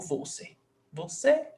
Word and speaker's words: você: This is pronounced você or você? Você or você? Você. Você. So the last syllable is se.